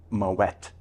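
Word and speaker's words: Moët: And just to make a quick note to our viewers out there, Randy pronounced Moet with a hard T after Claude Moet because he was Dutch.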